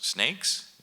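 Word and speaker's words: SNCC: when you look at Snick it is perhaps history's most important example of a student-led movement and a student-led organization also the same way John Lewis would pronounce snakes you call them snakes and uh you know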